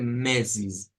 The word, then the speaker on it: meses: de ellos primer lugar la palabra mes se escribe igual en portugués y en español pero la vamos a pronunciar bastante diferente vamos a decir mesis mesis es importante hacer